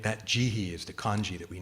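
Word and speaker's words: 慈悲: kaduna character is um in Japanese the Chinese pronunciation is he uh and so jihi right that jihi is the kanji that we know um usually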